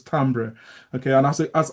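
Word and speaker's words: timbre: People call it timber, but it's not timber. It's pronounced as tambber.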